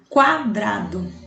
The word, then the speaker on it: quadrado: for pronunciada vamos observar quadrado e querida vejam que enquadrado eu escuto o som do o já em querida eu não escuto som do então para perceber